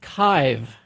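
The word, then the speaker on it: Kyiv: Uh, it's pronounced kive.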